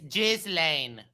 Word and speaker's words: Ghislaine: I'm sorry to correct you all, but this is how you pronounce it. It's Ghislaine.